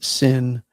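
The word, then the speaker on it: שׂ: And then, of course, sic and sin with the dot on the left hand side both have the the s sound as uh as the word sin.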